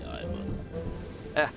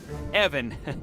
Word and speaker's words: Ivan: You might have saved my life today, so ask away, Ivan. Evan. It's pronounced Evan. The short guttural.